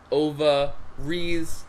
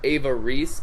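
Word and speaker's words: Ova Reiss: but I don't know if we pronounce it Ova Reese or Ava Reese, but we spell it Ovareiss, like to be funny.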